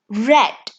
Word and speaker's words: read: we say it as red read become red in past tense all right the spelling